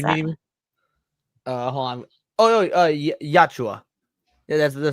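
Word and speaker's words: Yautja: How do you pronounce that? Hold on. Yachua. Yeah, that's the Yachua.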